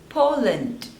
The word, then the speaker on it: Poland: Philippines Philippines next is Poland Poland there are two syllables and you have to stress on the first one po Lind Poland Poland